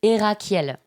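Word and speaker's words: Herackiel: prononce Erakiel pour les personnes qui écoutent. Erakiel.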